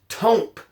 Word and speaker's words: Tomp: short for Thompson and pronounced Tomp with a long O sound.